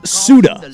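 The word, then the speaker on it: Ceuta: It's pronounced Suda.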